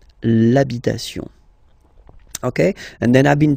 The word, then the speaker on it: l'habitation: for the masculine part, even if you've got this H, then the first sound you hear is A, okay, so for the same reason you will have to take this A away, and then you get